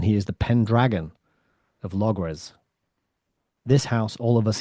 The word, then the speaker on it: Logres: It's pronounced a few different ways. Logris, I think, is one, but it's spelt here with an S, with an E, so Logres.